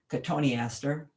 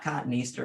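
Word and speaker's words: cotoneaster: serratus stigma from vaganoides cotonester which is not cotton easter but most nursery people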